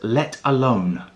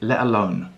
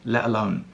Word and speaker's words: let alone: and that phrase is let alone let alone or in perhaps more natural British English pronunciation we'd say let alone let alone so we have that glottal stop the t is not pronounced clearly so what does let